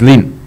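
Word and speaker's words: 林: And two trees are a wood in Chinese language. You pronounce it Lin.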